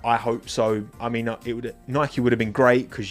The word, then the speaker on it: Nike: Nike. Not Nike. Nike. Adidas, Nike. Because Nike is how you Americans pronounce it, right? And it's an American company. So you should respect how the country of origin pronounces.